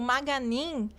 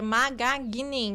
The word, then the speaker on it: Magagnin: E o Maganin é Maganin, o G é mudo.